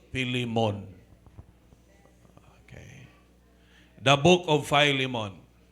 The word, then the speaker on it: Philemon: Kung daw ilonggogid nga pang pronounce, Philemon.